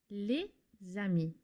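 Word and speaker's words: les amis: For example, here this is pronounced leami. Leami. You can see that I'm pronouncing the s lizami at the end of le which normally is silent.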